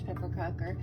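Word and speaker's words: pepparkakor: We have pepperkakor, which are ginger snaps. That's how you say it in Swedish, pepperkakor.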